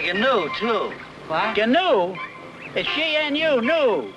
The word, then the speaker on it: gnu: new too canoe is gnu new the g is silent there's one thing you've